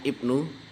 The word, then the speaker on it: IPNU: Ikatan Pelajar Nahdlatul Ulama jadi Ibnu ya bacanya Ibnu Ikatan Pelajar satu ulama